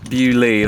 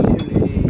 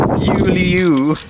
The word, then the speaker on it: Beaulieu: Bewley, that's how you say it, yeah? Bewley. Gotcha. Thank you. That would have been a disaster if I'd turned up to the place and started calling it Bewlieu. Sound like a tourist.